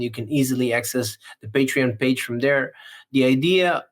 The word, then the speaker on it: Patreon: besides that we have the patreon page uh patreon that's how you pronounce it it's confusing I know it's confusing and basically um it's easy to find it just hly land.